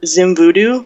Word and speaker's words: XimVewDew: It's at Xim Voodoo, but it's spelled XIMVEWDEW, and that's pretty much it.